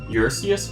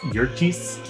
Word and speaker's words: Eurystheus: Eurystheus fragments? The Eurystheus fragments. Okay. I believe it's actually specifically pronounced Yurtis, if you look up the mountain that it's named after. I could be mistaken.